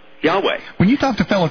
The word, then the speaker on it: Yahweh: that doubts that the yod vah yhwh is pronounced Yahweh when you talk to fellow Christians Craig do